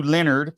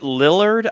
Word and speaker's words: Lillard: cast we got Matthew Leonard plays uh William Le Leonard why am I saying that name wrong is it Lillard I've never heard itard I think it is Lillard I think it isard